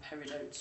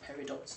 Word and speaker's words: peridot: actually of gem quality, so you could actually call them peridotes or peridots, depending on how you wish to pronounce that.